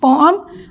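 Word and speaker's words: poem: द पोएम बिग्स basically पोएम की pronunciation जो Asians बोलते हैं वो पोएम है। That is quite also right but द way native pronounce it इट इज़ पोम और पोम। यू can pronounce in either way.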